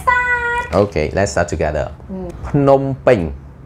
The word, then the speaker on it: Phnom Penh: So today Bong Dara will help you to pronounce the province in the correct way. Let's start. Okay, let's start together. Phnom Penh. Phnom Penh.